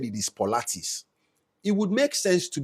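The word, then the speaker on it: Pilates: I made this I made this content about pilotes you know that exercise that women do now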